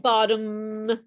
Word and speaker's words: bottom: so maybe for you the key is to hold it longer okay so you have to kind of like really push that you know bottom okay and you don't open your mouth until after the vibration is made okay so let's just